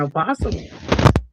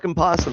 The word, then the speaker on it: opossum: That's crazy cuz it's a possum. The O silent. It's like knife. Do they say canife? Do they Do they say canife up there, too?